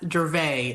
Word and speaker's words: Dravet: time, I am told it's called it's called Dravet Syndrome. Am I getting that pronunciation correct? Well, it can be in in the US, Dravet is how it's pronounced it, but it is pronounced differently in different countries.